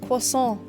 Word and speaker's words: croissant: for this superhuman woman but I must insist it should be pronounced quason was so oh